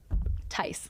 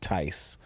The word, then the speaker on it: Theis: the H is silent. Very similar to nice. So Theis. Theis.